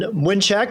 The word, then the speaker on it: Mlynczak: and introduce yourself sir my name is mnek since we're we're saying our polish pronunciations here I am president and